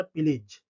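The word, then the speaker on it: pillage: अगला important word हो जाएगा प्लीज। इसको इसकी स्पेलिंग है पी I double L ए जी ई। ठीक है? तो इसको प्रोनाउंस करेंगे पिलीज।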